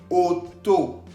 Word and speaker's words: auto: Auto. Auto. Tenemos la presencia de la A-U que se pronuncia O. Entonces, combinado todo, decimos auto, que significa auto.